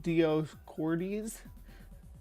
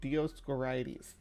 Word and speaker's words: Dioscorides: Dioscorides, I think is how it's said. Dioscorides.